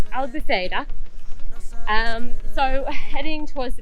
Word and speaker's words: Albufeira: towards the beach in I was saying it wrong yesterday I'm saying Albufeira I'll be fader um so heading towards